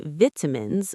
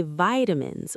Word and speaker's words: vitamins: In the UK, they say vitamins with a short I, but in the US, they say vitamins with a long I.